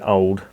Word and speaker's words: Owd: is Masters old Roger I'm just going to pronounce it old Roger because you're not really going to hear the difference if I say ode and old but there it is